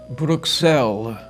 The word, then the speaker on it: Bruxelles: Locally, the city's name is pronounced Bruxelles.